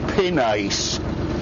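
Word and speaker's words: pinnace: I would have said pinace cuz that's how it's spelled.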